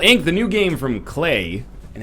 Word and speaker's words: Klei: Hey everybody, welcome to Let's Look at Invisible Ink, the new game from Clay, and it does rhyme with Clay in case you're curious, but it's not Cly, but it is the